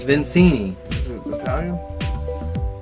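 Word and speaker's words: Victini: Is it Vincenti? How do you pronounce it? Something like that. It's Vincini.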